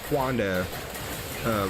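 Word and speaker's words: Hwando: There's a 2-handed sword called Huando. It's spelled with an A, H-W-A-N-D-O.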